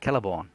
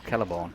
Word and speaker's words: Celeborn: So we got the Celebrand, or Celeborn. They would use a C.